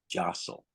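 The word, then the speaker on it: jostle: with the first word Josel now that t is silent Josel what does it mean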